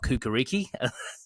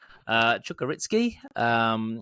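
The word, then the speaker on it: Čukarički: I've learned how to say it since last week's episode. Not Kukariki, surprisingly. Chukaritski.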